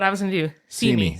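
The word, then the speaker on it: Simi: was going to do see me see see me but it's spelled like Sami yes s i m i okay got it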